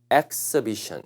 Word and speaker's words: exhibition: 전시, 전시회는 발음이 exhibition 이렇게 읽어요. 조심해요. exhibition.